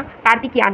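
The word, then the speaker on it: Karthikeyan: तो इसका प्रोनाउंसिएशन आप लोग देख लेना, कार्तिकियान है।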